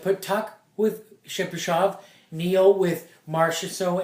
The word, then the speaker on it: Tuch: Alex Tuck. Tuck. Is Yeah. it Tuck? Yeah. It's spelled Tuch.